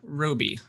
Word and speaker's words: Roby: uh uh here with me today is roby am i pronouncing your last name correctly oh yeah absolutely